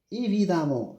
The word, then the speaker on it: évidemment: Même si c'est écrit E, je prononce A comme ici, fréquemment, prudemment, évidemment, même si c'est écrit E, je prononce A.